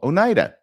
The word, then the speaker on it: Oneida: the same location and it's called Onida that's a pretty good match just uh spell different pronounced the same okay so here's the